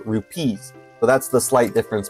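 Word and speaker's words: rupees: AAR and of time but the plural version of rubies with a B is not the way that they say it in in ocan time they call it rupes with a r u p EES so it's slightly different um but they're also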